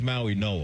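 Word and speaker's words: Mauigoa: Is the G pronounced as an N? I believe so. Okay. It's a tricky one. It is. I think it is Maui Noah.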